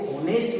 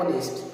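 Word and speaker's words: honest: इसको होनेस्ट नहीं पढ़ना, इसको क्या पढ़ना है? ऑनेस्ट।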